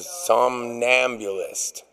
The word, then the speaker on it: somnambulist: It's the somnambulist.